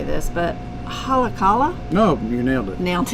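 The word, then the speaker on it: Haleakalā: going to massacre how to say this but halacala no you nailed it nailed it yeah so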